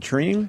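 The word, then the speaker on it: Tremé: It's how you pronounce it? Treme? Treme.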